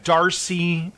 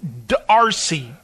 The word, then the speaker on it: d'Arcy: solicited domhnall gleeson James badge Dale and Brian D'Arcy it's Darcy it's Dee ' a rcy solo do I pronounce it Darcy yes yeah that's exactly it's